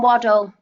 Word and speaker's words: Waddell: Tom Waddell. Waddell. Waddell? Yeah. Right. Okay. It's pronounced like Waddell, I think.